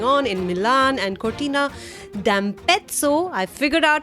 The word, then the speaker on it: Cortina d'Ampezzo: So it's d'Ampezzo. I forgot, that's how you're supposed to say, like pizza and pezzo. That's how you say it.